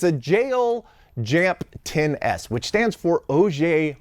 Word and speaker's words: JEOL: And so, it's supposed to be pronounced like J O R U, which is the katakana way to pronounce it, and even that I'm probably getting wrong uh slightly.